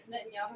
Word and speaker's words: Netanyahu: Netanyahu. Netanyahu.